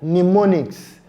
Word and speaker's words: mnemonics: For our silent m sound, we have it silent in a word like mnemonics. Mnemonics. The m sound there is not pronounced. So when you are asked to spell the word mnemonics, remember it has the letter M, but the sound m is silent.